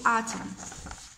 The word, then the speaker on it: autumn: autumn هو فصل الخريف، الو هو فصل، autumn هو season، autumn وما ننطقوش الان لانه silent، نقولو autumn.